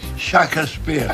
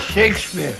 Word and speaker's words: Shakespeare: shisp or sh yes nobody in the Caribbean have I ever heard say shakas spear they said Shakespeare they said Shakespeare well I wasn't into Shakespeare Neo not you didn't